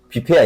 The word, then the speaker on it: buffet: 프랑스로는 그렇게 안 읽고 비패야.